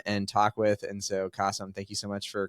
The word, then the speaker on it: Qasim: I am super excited because I am joined by Qasim Aslam, and you guys may recognize Qasim because his name rhymes with awesome, but also Qasim, you